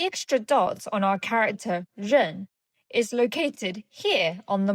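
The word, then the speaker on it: 刃: This character is rèn. rèn fourth tone rèn It looks very similar to dāo meaning knife.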